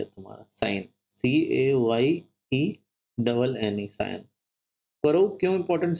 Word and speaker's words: Cayenne: Capital ये है तुम्हारा साइन, CAYENNE, साइन।